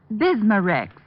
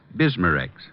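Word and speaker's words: Bisma-Rex: have to remember that bismarex is that how you say it that's right ma'am b-i-s-m-a hyphen r-e-x bismarex ask for bismarcks at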